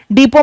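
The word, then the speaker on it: depot: डीपो में P silent होता है।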